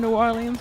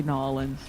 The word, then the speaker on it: New Orleans: versus someone that is, we never say Nolans. Nolans. New Orleans. We never call it Nolans. But what's funny is it's New Orleans and Orleans Parish, spelled the same way, said two different ways.